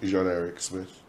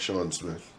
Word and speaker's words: Jean-Eric Smith: I was christened Jean-Eric Smith, not Sean Smith, as most people in Cayman knew me throughout my younger and adolescent years. Mm-hmm. That was primarily because my countrymen had a difficulty in pronouncing the name Jean, mm-hmm.